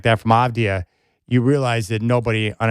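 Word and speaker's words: Avdija: And for the Blazers right now, I just go back to what Denny Avdia, or should I say Avdia, how many people do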